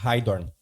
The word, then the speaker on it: Heidorn: como é que se pronuncia o teu sobrenome? Heidorn. Heidorn.